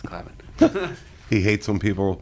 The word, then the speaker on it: Clavin: It's Clavin. He hates when people mispronounce his last name.